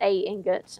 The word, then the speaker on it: ingot: uh some ingots and a scroll or just Ingot an Ingot is the correct way to say